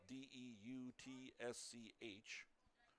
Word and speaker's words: Deutsch: Deutsch is spelled D E U T S C H. Pronounced Deutsch.